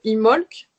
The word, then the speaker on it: Imbolc: sa forme simple alors un bolt se prononce imholz et signifie dans le